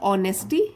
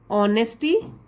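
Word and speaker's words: honesty: There, ईमानदारी हो गया ऑनेस्टी, एच साइलेंट होता है, ऑनेस्टी एंड फ्रेंडशिप।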